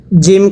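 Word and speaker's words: جيم: অনেকেই বলবেন হুজুর জাল এবং জিম দুটোটাই তো একই উচ্চারণ হয় না, জিমটা শক্ত করে পড়তে হবে আর জালটা নরম করে। পড়ুন। জাল খারা জবর রা। আর জিমটা হবে জিম খারা জবর যা। এটা শক্ত করে, এটা নরম করে।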